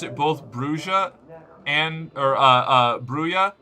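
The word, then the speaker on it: Brujah: We got an official source on it that it's Brua.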